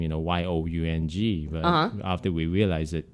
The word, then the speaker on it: Young: Young. With the long O. Yes. Like Young.